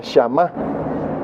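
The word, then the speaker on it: שמע: oír hermanos hablá la del hebreo se pronuncia shama shama raíz primaria oír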